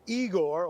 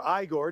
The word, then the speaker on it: Igor: Tropical storm Eigor or Iiggore, depending on how you pronounce it or you watch Young Frankenstein.